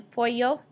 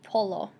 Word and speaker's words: pollo: Remember that this double L in Spanish right here makes a sound like Y in English, so el pollo is how you say chicken, not polo. It's pollo. Okay, next, carne de cerdo is pork.